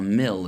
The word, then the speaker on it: mil: the fact that a mil is a certain amount of distance. Not a mile, even though it sounds like the word mile, but it's a certain amount of distance.